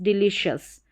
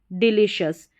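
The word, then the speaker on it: delicious: तो यहां पर देखिए डी ई है इसको डी एल आई को ली डिली और फिर लास्ट में है शस डिलीशियस डिलीशियस नेक्स्ट यहां पर है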